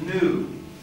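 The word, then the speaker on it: nu: it has the point that's the letter n in greek that's not a v that's an n and the name of the letter is new but it looks like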